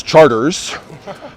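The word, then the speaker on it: Chartres: is calliope you know like the city in france is charters uh so it took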